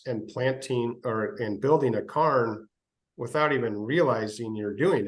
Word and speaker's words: Cairjn: And so because it's our word, it means the same as Cairn, but we pronounce it Cairn because it's ours, and this is America, and that's how we can do it.